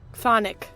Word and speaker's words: chthonic: By the way, this is not pronounced how I thought it was. How do you think this is pronounced, this one here? Chthonic, right? Like, it looks like Chthonic? Yeah. Chthonic. That's how you pronounce it. Chthonic. Yep. Chthonic. There's no CH.